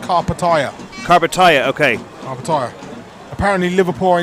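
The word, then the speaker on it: Karpatalya: also been told that Carl patalia is now pronounced car Pattaya carbataya okay apparently Liverpool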